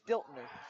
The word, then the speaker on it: Stiltner: I've been saying number 2's name wrong this whole time because Charlie Johnson wrote an A instead of an N. It's Stiltner. I'm sorry, whoever wrote that, it literally looks like an A.